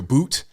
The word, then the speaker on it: Bout: Y'all say I said it wrong. Viktor Bout. I was saying Bout the whole time. Bout, Bout, tomato, whatever. Y'all know what I'm talking about.